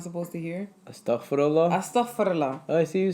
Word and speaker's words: Astaghfirullah: Astaghfirullah.